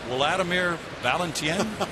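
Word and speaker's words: Wladimir Balentien: Wladimir Valenten. Is that correct? That is that is the way you would pronounce it in Spanish. There's no doubt about that.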